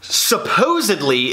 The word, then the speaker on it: supposedly: Supposedly is spelled S-U-P-P-O-S-E-D-L-Y.